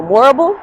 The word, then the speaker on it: Morrible: Uh, it rhymes with horrible, Morrible, Miss Master Morrible, but she definitely wasn't going for what they wanted her to go for.